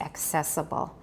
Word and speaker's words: accessible: 2 C's is usually k plus s, like accept, access, accessible.